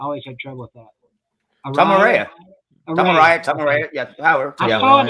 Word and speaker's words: Tom Araya: How do you pronounce the singer's last name? I always had trouble with that. Tom Araya.